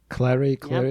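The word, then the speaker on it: Cléry: with the actress Corinne, is it Cleary, is it? Clary, it's pronounced, yeah.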